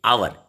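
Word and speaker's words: hour: एन आवर, हालांकि आवर H vowel नहीं है, वॉवेल हालांकि 5 होते हैं अंग्रेजी में, ए ई आई ओ यू, लेकिन यहाँ जो प्रोनाउंसिएशन है, उच्चारण है, दैट इज आवर. एच यहाँ साइलेंट है और इसलिए आप यूज कर रहे हो एन आवर.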